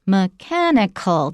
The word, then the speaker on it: mechanical: is that the word the adjective is mechanical the stress is on the second syllable mechanical a mechanical arm